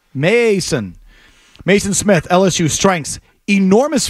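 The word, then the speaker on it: Maason: Mason is spelled M-A-A. Mason.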